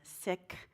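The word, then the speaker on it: Sikh: Valerie Carr she's a sick I was saying seek but it's really sick they pronounce it and it's the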